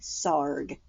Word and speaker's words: Sarg: this little puppet says SAR rhymes with ARG and he was born